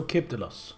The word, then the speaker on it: Kibdelos: Also, where is the emphasis in your name? Is it Kibdelos, emphasis on the first I, or is it Kibdelos, emphasis on the second I? Not yet, but you're working on it. Oh, that's funny. Proper is on the first, so Kibdelos.